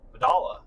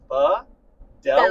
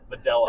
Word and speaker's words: Videla: It's probably Vidala. Exactly. Yeah. So I hear that. Yes, but Often. 12 years. Vidala. Videla, like the computer.